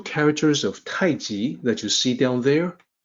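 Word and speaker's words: 太極: It's written as Tai Chi. People pronounce it as Tai Chi, but the romanization system of old always had intended for it to sound like Taiji, which is what you see here.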